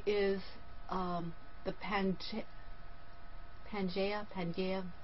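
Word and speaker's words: Pangaea: Pia it's hard to p a n g a ea I think it's panga because before an a it's a hard G so and I really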